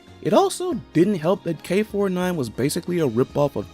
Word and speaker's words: K9999: Yeah, I know you actually pronounce it K49, but even with that it doesn't make it any less odd.